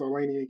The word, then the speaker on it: Olaniyan: introduction um as as she mentioned and pronounced it correctly thank you so much my name is alanan and the title of